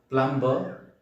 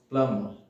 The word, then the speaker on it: plumber: It's not plumber, it's plumber, because B is silent in this word.